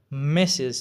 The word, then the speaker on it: Mrs: دا اول و میسټریس، میسټریس، بیا خلکو د دې نه مخفف راواغسته ام آر اس یې کو دا میسز چې آر پکې نه تلفظ کیږي.